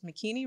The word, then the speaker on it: Makini: My name is Makini, rhymes with bikini, Makini.